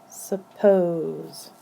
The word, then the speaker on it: suppose: with a consonant so this is how we sound this one out s Su but the second syllable has this magic e that makes this vow say its name so when we sound it out we will sound it this way p o pose pose suppose the next type of